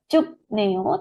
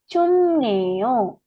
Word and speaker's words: 춥네요: Nah, di sini ada biep cup ya, terus ketemu huruf N, nanti biepnya ini dilafalkannya M ya, Robun. Jadi nanti bacanya bukan cup neo, tetapi cum neo.